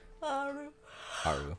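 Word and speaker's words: Aaru: He's one of the people that went insane, and lives in whatchamacallit, the one place, Alaru or Aru or however you pronounce it. Aru, yeah.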